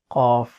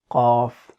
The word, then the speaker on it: Qaaf: Articulation point is it is one of the lisan throat tongue letters, and it is pronounced from the deepest part of the tongue, which is next to the throat, and what lies opposite to it of the mouth, that is opposite soft palate.